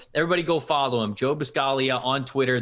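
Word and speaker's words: Buscaglia: go follow him joe biscaglia on twitter there's a g in there at the end of his last name but the g is silent like lasagna always work over at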